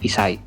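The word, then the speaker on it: 一歳: Untuk angka 1 kan harusnya ichi, tapi dibacanya isai.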